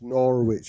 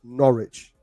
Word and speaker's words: Norwich: i mean you're gonna have to stop this nora which i've been told to tell you how to say the name properties norwich there's no yeah we like sandwiches from norwich